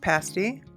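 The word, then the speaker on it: pasty: So, some of the mustry food, you got to have a pasti. It's a traditional upper peninsula meat pie best at Tquamanon Falls Brewery and it is pronounced pasti and uh the upper peninsula is lovingly known as a yuper.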